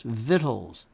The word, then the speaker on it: victuals: Vines and visuals victuals it is pronounced victuals pronounce vittles all right you got this all right so